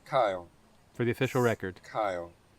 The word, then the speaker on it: Keil: It's Kyle, Kyle.